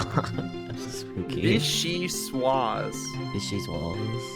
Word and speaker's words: vichyssoise: Vicky's wall. That's spooky. Vichyssoise. Vicky's walls. Vichyssoise. V-I, she, Yeah. Swaz. With a Z. Well, that's American pronunciation.